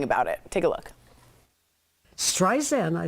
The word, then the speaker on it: Streisand: Streisand, I said. My name is with a Z. It's Streisand, like sand on the beach.